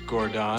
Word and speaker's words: Guangzhou: It's pronounced Gordon. Store, the Nike Guangzhou location, and the Nike... It's pronounced Gordon. The Nike Lab X-158. Guangzhou, which is also Canton.